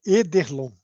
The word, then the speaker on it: Ederlon: Por favor, Edilon, fique à vontade. Espero ter pronunciado certo o nome. Não, é Ederlon. É mais difícil do que parece.